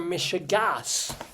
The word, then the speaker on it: meshugas: THIS SAYS, I like your meshugas. What they mean is, I like your meshigas, but they spell it meshuga Meshugas means you like your crazy people, but no, they mean ridiculousness, not just saying stupidity.